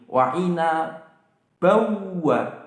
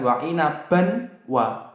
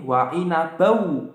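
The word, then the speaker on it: وَعِنَبًا وَ: Wa'ina bawa, bukan wa'ina ban wa, tapi wa'ina bau. Langsung bannya itu enggak kebaca, langsung bau.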